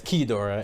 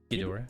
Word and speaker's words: Ghidorah: where Eduardo's talking about Ghidorah and then Devin's like, it's not Ghidorah, it's Keydora, and the editor throws up the pronunciation showing Devin's wrong.